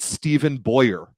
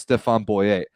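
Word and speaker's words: Stéphen Boyer: it anymore i i can't listen to people pronounce it stephen boyer when he's a french man who it is clearly pronounced stefan boyet and i don't speak french that's that language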